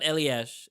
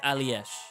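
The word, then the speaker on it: Allyash: It's not Elies. If we got the actual pronunciation, Mora on the first one, it's alesh. Let's see where is it. It's pronounced A L L Y A S H.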